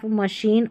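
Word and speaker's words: machine: ये जो है कुछ फ्रेंच मूल वाले शब्द है ना, वहाँ पर हम CH को श पढ़ेंगे, जैसे देखिए शेफ, मशीन और ब्रोशर, यहाँ पर देखिए CH है ना, इसको श पढ़ना है, इन्हीं स्पेलिंग में, याद कर ले इनको।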